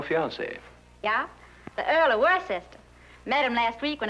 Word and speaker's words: Worcester: But it's spelled W-O-R-C-E-S-T-E-R, Worcester.